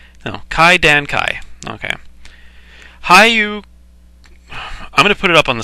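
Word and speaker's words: 怪談会: Oh my goodness, I'm going to have to pronounce this word, aren't I? Hyakumonogatari. Hyakumonogatari. Kaidankai. No, Kaidankai.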